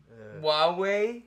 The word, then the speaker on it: Huawei: the same um huawei phone since 2000 and huawei huawei that's how it's pronounced holy huawei he's got